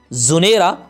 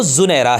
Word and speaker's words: زنیرہ: برکت اور سعادت ہے۔ تراجم اور سیرت کی تمام کتابوں میں اس لفظ کا تلفظ زنیرہ، زنارہ اور زنیرہ بھی رہا ہے، لہذا عوام میں اس کا تلفظ جو لفظ صحیح بولا جاتا ہے وہ زنیرہ ہے، جس کے معنی ہے